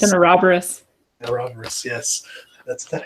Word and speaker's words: Ouroboros: It's an Ouroboros. Ouroboros, yes. That's that how you say that? Maybe Ouroboros. I've been mispronouncing it forever.